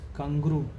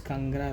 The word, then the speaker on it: Kangra: The other one is Kanguru. I mean not not Kanguru, it is Kangra Valley.